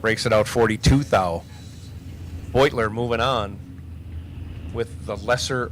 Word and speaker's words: Beutler: Mispronounced Jack's name wrong all day yesterday, but Jack Beutler over here, right side, in that 92 Sierra.